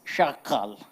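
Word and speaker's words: chacal: Day of the Jackal now Jackal in French is pronounced as shakal shakal so that became shakal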